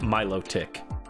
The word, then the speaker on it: Milotic: Like uh T I C K like a like the the gross little bug creatures or Milotic?